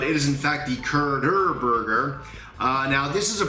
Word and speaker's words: Curderburger: I think in my last video I mispronounced that. Called it the Kurd burger, but it is in fact the Kurder burger.